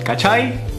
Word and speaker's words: cachai: I don't get it so it's Ka as in California chai as in chai latte kai kai kai kach no